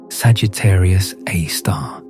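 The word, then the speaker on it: Sagittarius A*: It's called Sagittarius A, pronounced Sagittarius A star, and it's been there for billions of years.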